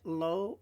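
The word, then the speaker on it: לו: Now I've given you it here, lo, a masculine pronoun, to him, to it, third person singular masculine, but I also gave you lo, which sounds exactly the same, but it's spelt slightly different.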